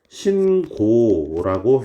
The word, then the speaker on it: 신고: 없지만 사례를 한번 들어봅시다 신발을 신고 경찰에 신고 자 여러분 똑같은 똑같은 신고라는 단어지만 발음이 위에 놓은 사니까 신고하라는 신발을 신라는 사니까 신라고 돼야 되면 밑에 녀석은 신고라고 해야겠죠 왜 얘는 체언 이니까요